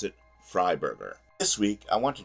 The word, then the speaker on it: Freiberger: I'm also informed that I'm pronouncing the name wrong it's supposed to be fry Burger not free bger I have never heard